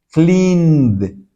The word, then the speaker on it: cleaned: Mire, clean, entonces la D se pronuncia como una D. Cleaned.